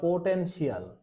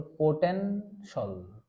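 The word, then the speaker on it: potential: সেক্ষেত্রে আপনি এই TIAL থাকুক কিংবা CIAL থাকুক, এটাকে আমরা উচ্চারণ করব সল।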